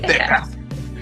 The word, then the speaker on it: Deckard: pronuncia? Deckard. Deckard. Descartes. Deckard. Sí, Deckard.